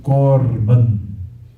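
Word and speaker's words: קרבן: Korban, aqui você tem um kamatz, uma sílaba fechada, e átona. Aí quando você tem um kamatz, uma sílaba fechada, átona, então ele é pronunciado O, seu som. Por isso, korban.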